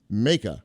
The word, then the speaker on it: Maka: He told me his first name is pronounced Maka, like Jamaica.